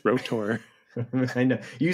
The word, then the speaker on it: R.O.T.O.R.: so and I'm glad it's pronounced rotor I know you say